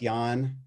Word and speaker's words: Jahn: if you hit LinkedIn just yawn just like you're tired but it's spelled je Ahn is my name or